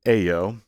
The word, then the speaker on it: ejo: The suffix ejo is pronounced a-o, and it becomes the place where a word would happen.